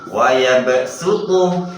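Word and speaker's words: يَبْصُۜطُ: Kemudian shot ada sin kecil di bawah atau di atasnya. Maka shot yang pertama shot harus dibaca sin. Wa yabsutu. Wa yabsutu. Meringis. Wa yabsutu. Wa yabsutu. Wa yabsutu. Wa yabsutu. Kemudian basto shotnya harus dibaca sin juga. Bas potan.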